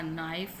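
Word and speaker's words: knife: Bring a नाइफ from the kitchen, यहाँ पर भी के साइलेंट है।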